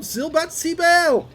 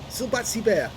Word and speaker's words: Silberzwiebel: command of zilbatsy bell and yes i've pronounced his name correctly at last and he's got two months of excellence on the barrel already i have a lot of difficulty pronouncing silvazibel's uh name silbatsy bear yeah got it right this time it means silver onion